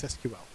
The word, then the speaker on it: SQL: people because of this SQL is known as an initialism if you don't know